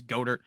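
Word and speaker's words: Goedert: i'm terrible pronouncing names i say dallas goddard people say it's goater they get after me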